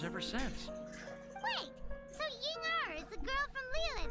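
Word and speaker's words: Ying'er: Ay, Yingar pala yun! Oh! Hindi siya Yinger, guys! Yingar! I've been pronouncing it wrong all these days.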